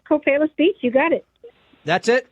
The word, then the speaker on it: Copalis Beach: Yeah, it's Copalis Beach.